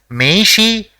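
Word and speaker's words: めいし: see the first word the first character in the word is Mei the second is e and the third is she so it will be pronounced as meishi which means business card or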